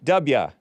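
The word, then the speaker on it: Dubya: wait Bubba wait du du b y a Duba correct correct okay du from Texas kind of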